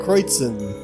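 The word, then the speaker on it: Kreuzen: province in the southeast their names have German pronunciation crates in oh you don't get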